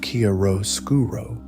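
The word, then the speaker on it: chiaroscuro: He was also the Renaissance master of Kiaroskuro, pronounced Karro Skuro, the dramatic contrast between light and shadow.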